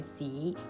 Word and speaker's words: สี: before each colour, and in Thai "colour" is สี, the pronunciation is very similar to the Cantonese "shit" (feces) In Thai is actually a long vowel, but let's not describe it here.